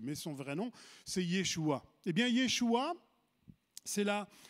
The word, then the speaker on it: Yeshua: C'est Yeshua. Vous connaissez Yeshua? C'est Jésus, Yeshua. C'est Yeshua qui s'écrit là aussi en hébreu.